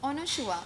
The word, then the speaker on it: Anasua: तो करण जौहर ने बोला था कि ऑनशुआ. आई was like Sir, oh my god, how are you taking my name so properly? Because that is my pronunciation.